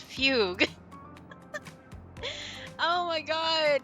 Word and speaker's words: fugue: It's not fuguay, it's fugue.